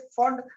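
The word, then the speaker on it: Pfund: तो आज देखो मैं भी पफंड बोल के बैठ गया जबकि पी इसमें साइलेंट था, दैट वाज फंड सीरीज।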